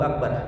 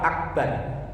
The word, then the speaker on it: Akbar: artinya Terus yang kedua jangan memanjangkan huruf ba dalam lafaz Akbar jangan sampai membacanya Akbar artinya berbeda jauh kalau Allahu akbar artinya Allah yang maha besar tapi kalau Allahu akbar a-nya dibaca panjang itu ada huruf istifham